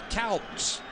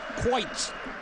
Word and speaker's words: Kuyt: Throw in for Dirk Kuyt. Or as they say in England these days, Dirk Kuyt. I have heard though from a friend of mine who is a Dutchman that it is Dirk Kuyt.